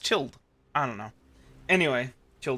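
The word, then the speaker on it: Childe: anyway that's the the child's character why do they call him child he's it should be pronounced chilled I don't know anyway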